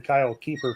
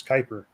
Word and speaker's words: Kuiper: Kyle's last name wrong we kept saying Kyle keeper for the longest time it's Kuiper yeah so uh let's